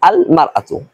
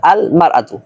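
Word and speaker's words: المرأة: তখন উচ্চারণ হবে এরকম আল মারআতু। ইমরাতুন শব্দের পূর্বে যদি আলিফ লাম যুক্ত হয় তাহলে উচ্চারণ হবে আল মারআতু।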